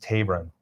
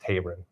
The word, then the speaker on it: Taberon: She expressed to us, and we said that we would pass along, that his name is pronounced Taberon, first name pronounced Taberon, according to the mother, Taberon Honie.